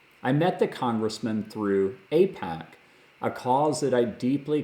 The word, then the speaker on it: AIPAC: I met the congressman through APAC, a cause that I deeply care about. You can find me at the APAC Policy Conference every year, and APAC is spelled AIPAC.